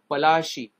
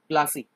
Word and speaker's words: Palashi: Actually, in our Indian words, we called it Palashi. But as you know, Britishers can't pronounce it properly. That's why it became Plassey.